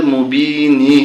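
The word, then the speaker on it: مبين: বানান করলে মুবিনি হবে, যখন আমরা এখানে থেমে যাব তখন হবে মুবিন।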